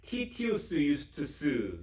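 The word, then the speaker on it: Titius Justus: 어디 옆이라고 회당 옆이라 디도 유스를 라틴어로 발음하면 티티우스 유스투스 이렇게 발음한다 그래요 이게 로마식 이름입니다 그러니까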